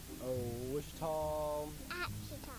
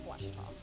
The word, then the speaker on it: Ouachita: Wichita. Ouachita. Is it pronounced Ouachita? Searching for Ouachita Baptist University. Back in Texas, everybody pronounces it Wichita, but really, it's Washita.